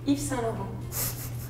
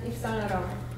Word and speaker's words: Yves Saint Laurent: But I mean, we also say in French actually just Dior, but we want to pronounce the full name. This one is Yves Saint Laurent.